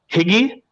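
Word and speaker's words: hygge: cozy is known as i'm not going to be able to pronounce that h-y-g-g-e in danish higgy uh in danish and koslig in norwegian that was my best and they the title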